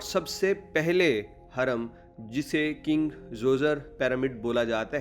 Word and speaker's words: Djoser: English में इस बादशाह का नाम लिखते वक्त पहले डी भी लिखा जाता है लेकिन डी साइलेंट है, इसीलिए तमाम लोग इसे किंग जोज़र बोलते हैं।